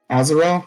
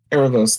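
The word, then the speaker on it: Aaravos: that like they've been work working with is azarel is it I'm I'm rough on the pronunciation like Aros Aros thank you Aros is obviously got something under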